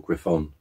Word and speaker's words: Griffon: But that's the SMK Griffin, or Griffon, if you want to pronounce it as it's stamped on the side.